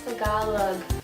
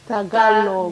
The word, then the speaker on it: Tagalog: When people pronounce Tagalog, or Tagalog, I understand you can pronounce it any other way, no one really cares. Pero it's Tagalog. Tagalog.